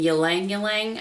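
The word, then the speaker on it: ylang-ylang: And then there's one in Deep Breath, which is lavender, chamomile, and ylang ylang, I believe is how you say that.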